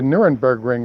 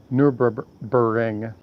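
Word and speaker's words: Nürburgring: So where the challenge has been laid down is there's something called the Nurburgring is how everybody pronounce it, but if you look at it, it's Nurburing.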